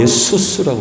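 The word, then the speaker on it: Ἰησοῦς: 헬라어로 예수스라고 그러죠. 예수스. 한글로 번역하면서 그냥 예수라고 하는데 헬라어 발음으로는 예수스라고 발음을 하는데 구약적 의미에서 따온 헬라식 이름이라고 그러죠.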